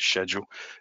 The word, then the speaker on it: schedule: with me i apologize i do pronounce it schedule english upbringing and a project estimate